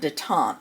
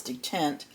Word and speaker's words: detent: I've been calling it dant, but the correct pronunciation I found is detent.